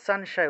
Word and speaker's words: সংশয়: আপনারা এই যে সংশয় এক্ষেত্রে অনুস্বারটা শব্দের মাঝখানে আছে তাহলে সানশায় উচ্চারণ হবে সানশায় তারপরে সার্বম অনুস্বার